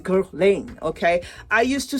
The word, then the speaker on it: Guerlain: Like, I used to say Guerlain. This is me now saying Guerlain, okay?